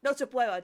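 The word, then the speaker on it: Nochebuena: Casagrandes celebrate their Christmas, their Noche Via or Noche Chia or however you say it, their Christmas is celebrated on Christmas Eve. So we were kind of connecting that maybe Noche Buena, thank you.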